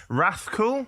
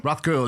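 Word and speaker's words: Rathcoole: Um Dra, you grew up in a place if I'm going to butcher this uh pronunciation. It was Rathol. Rathcool.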